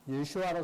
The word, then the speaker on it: 예수아: 그런데 그것은 예수님은 유대인이시죠. 그래서 히브리어로는 예수아입니다. 그래서 예수를 예수아로 쓸 것이고, 그 다음에 이제 요한은 독일식 발음입니다.